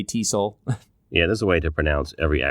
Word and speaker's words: TESOL: it or say it enough you'll you say Teasle yeah there's a way to pronounce every acronym so one of the challenges